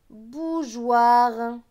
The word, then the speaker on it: bougeoirs: cas du monde bougeoirs vous avez vu que j'ai prononcés j'ai eu au 1er jeu l'éperon ses joueurs et non pas jeu ouah pourquoi parce que le e est là pour montrer que le gse pons jeu et non pas que parce que s'il n'y avait eu que j'ai aux ir ça se serait prononcé coire donc pour ne pas